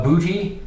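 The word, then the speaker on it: Boutte: he's uh Keyshawn uh booty is actually how you pronounce that booty which is funny LSU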